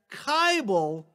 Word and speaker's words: Kibel: pronounce my last name you just repeat the following lyric to yourself it ain't necessarily so it ain't necessarily so the things that you're liable to hear from kybel they ain't necessarily so